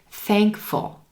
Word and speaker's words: thankful: to thanks thank you thankful thankful notice how quick the second syllable is in that word full full we have the f and l sound almost like they're smushing together thankful thankful you'll